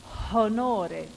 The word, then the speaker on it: honore: Honore, the H was aspirated.